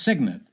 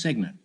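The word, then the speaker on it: cygnet: baby swan you don't know guess no it's signant it's spelled Cy G NE T but it's pronounced signant well you U still have half your bank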